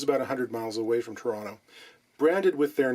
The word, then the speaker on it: Toronto: Arthur Hensel immigrated to Toronto, properly pronounced Toronto, from Germany in the early 1930s.